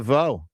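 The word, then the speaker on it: DeVaux: Dvau. Dvau. And I'll tell you what, as in Bel Biv.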